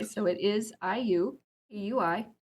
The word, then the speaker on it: IUPUI: I believe I've heard ooey pooy. So yeah. Yeah. If you're from there, you do not pronounce it that way. So it is IU eui.